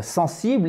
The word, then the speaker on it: sensible: L'accent tonique sur la première syllabe, chers amis, on le refait ensemble. Sensible, sensible, sensible, sensible.